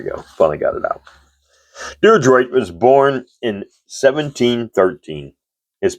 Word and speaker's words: Diderot: Diderot, pronouncing it incorrectly. Diderot.